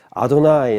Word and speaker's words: 아도나이: 아가 여러분 여호와 가 여호와를 구약에서 아도 나의 로 발음 하잖아요 이게 신약 성경에는 번역할